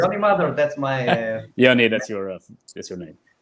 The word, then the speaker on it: Yoni Madar: Because sometimes I see, sometimes I see Yoni. So maybe I messed it up in the introduction. So if I did, my That's apologies. okay. No, Yoni Madar.